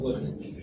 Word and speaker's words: would: Ya, sama dengan would juga ya, dibaca would.